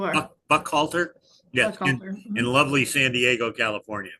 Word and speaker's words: Buchalter: senior parallegal and certified eiscocovery specialist at uh Buck Halter. And and am I saying that correctly? I always wonder if I'm pronouncing it. Yes, you are. Buck Buck Halter.